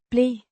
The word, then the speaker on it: blev: Ble means were pronounced ble with a soft B, a short e sound and a v sound.